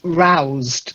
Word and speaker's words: roused: Okay, so the first word is roused, silent E. Roused.